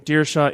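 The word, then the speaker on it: Dierschow: is hard to spell uh how do you spell it it's uh and my last name deara is d i e r s c h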